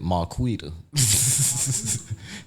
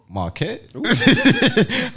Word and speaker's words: Marquette: One of my partners called it Marquita.